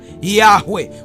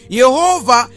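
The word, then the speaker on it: Yahweh: Yehova ni matamshi ya Mungu Yahwe lakini ambayo yalitegemeana na lugha ya Wayahudi ambao walikuwa wanaishi maeneo ya Ugiriki maeneo ambayo walikuwa wanaongea lugha nyingine. Kwa hiyo wakashindwa kutamka Yahwe ambayo kwa kihia inatamkwa Yah wao wakasema Yehova ndio maana unakuta majina mawili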